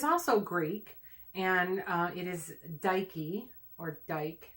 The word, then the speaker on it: Dike: thank you thank you cuz it's Nike so it's dad like okay I'm not sure I don't know I don't speak Greek the Roman equivalent is just to TIA Daiki is spelled di ke I guess I should like no I'd like Nike ad so Daiki is the